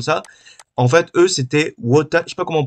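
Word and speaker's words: Wotan: les trucs comme ça en fait eux c'était what comment prononce mais c'est W o t a n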